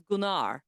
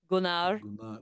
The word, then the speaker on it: Gunnar: My dog's name is Gunar. He's got a Viking namear. Oh, that's awesome. Yeah, that is really cool. But it's spelled and people think it's gunner because it's g n a r. Gunnar gard.